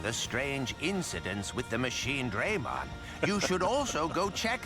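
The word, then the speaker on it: Machinedramon: for uh Gigimon uh I grew up my whole life saying machine drum on uh I guess in English uh he's technically pronouncing it correctly cuz you have uh two vowels separated by consonant so it should go a long a but uh it just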